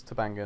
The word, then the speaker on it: Tobanga: lot of energy here also it's tobanga not Tanga sorry for the incorrect pronunciation let's talk about Kate